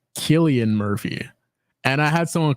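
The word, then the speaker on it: Cillian Murphy: I actually know that it's actually pronounced Killian Murphy and I had someone correct me on this very recently oh dang okay Killian Murphy Killian Murphy yeah um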